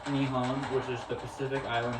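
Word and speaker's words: 日本: In Japan, it's pronounced Nihon, which is the Pacific island nation off the coast of mainland Asia.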